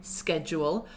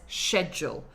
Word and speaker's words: schedule: yes good question so historically Americans say schedule RP says schedule I don't say sure